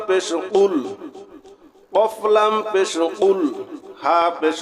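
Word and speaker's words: قُل: কফ গলার ভিতর থেকে কফ গলার ভিতর থেকে উচ্চারণ হবে একটা হলো কফ আরেকটা আছে কাফ এখানে আমরা যদি সঠিক উচ্চারণ করি কুলহু আল্লাহু আহাদ তাহলে সঠিক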